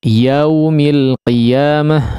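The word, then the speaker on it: يَوْمِ: Ya, kita harap bisa disempurnakan pengucapan fathahnya. Ya, ya, jangan terlalu buru-buru untuk masuk kepada waw, ya. Yau, ya, tapi sempurnakan terlebih dahulu fathah daripada huruf ya-nya.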